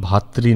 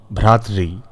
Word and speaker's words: ভ্রাতৃ: পিতৃ মাতৃ ভাতৃ নয়, পিতৃ মাতৃ ভ্রাতৃ।